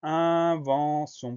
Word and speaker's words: invention: Première syllabe, un, on va l'écrire I-N, donc attention à ça. Deuxième syllabe, vent, V-E-N, le son en s'écrit E-N. Et enfin, on a la syllabe sion, qu'on va écrire T-I-O-N, le son S de sion, s'écrit avec un T.